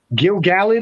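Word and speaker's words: Gil-galad: Yeah, no, but I So- just Gilgalad. I hate that pronunciation of it, even though I know it's correct.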